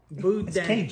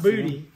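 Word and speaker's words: boudin: pronounced bud bud bud buun I think no not booty not boute you got like back in your throat a good good right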